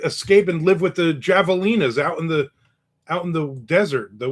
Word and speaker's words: javelina: By the way, the J in javelina is pronounced with an H sound. Oh, so javelina.